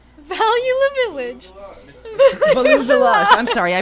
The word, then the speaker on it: Value Village: I have this lovely his name is Value La Village. Value the Village. Value Village. I'm sorry, I pronounced his name wrong.